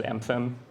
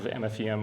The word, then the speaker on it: MFEM: And oh, by the way, the correct pronunciation is MFEM. Please don't replicate my bad pronunciation of MFEM, which is going to be, unfortunately, consistent throughout this talk.